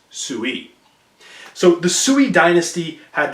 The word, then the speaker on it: Sui: dynasty and that's called the Sui dynasty again spelled like this pronounced Tsui so the Sui dynasty